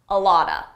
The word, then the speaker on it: a lot of: A lot of is pronounced a lotta, a lotta.